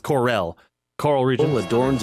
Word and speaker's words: Corel: the I resort used to say town coral. of Costa del This is Sol. the pronunciation thing. I used to say coral, but I guess coral is Coral. It's Corel.